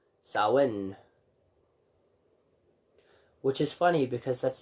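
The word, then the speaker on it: Samhain: time the longest night of the year salan pronounced Sawin which is funny because that's theoretically not the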